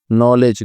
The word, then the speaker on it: knowledge: अब करेंगे हम लोग नॉलेज का। लेकिन नॉलेज को नॉलेज क्यों लिखते हैं? नॉलेज को कन अच्छा वो नॉलेज को कनॉलेज क्यों लिखते हैं? सवाल है किसानी का। क्योंकि के साइलेंट रहता है।